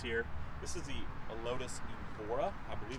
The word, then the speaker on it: Evora: seen the lotus here this is the lotus evora i believe it's how you pronounce it it is a sick sick little